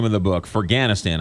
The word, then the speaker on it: Ferghanistan: name of the book for ganna Stan I apologize I was saying it wrong for ganna Stan